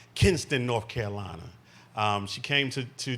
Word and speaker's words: Kinston: She's from Kinston, and then you got to say it right, Kinston, North Carolina.